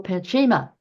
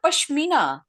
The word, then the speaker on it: Pashmina: said, get out your Pachima. And I'd forgotten I had one. And is that how you spell it? P-A-C-H-I? It should be Pashmina. Pashmina, that's the word.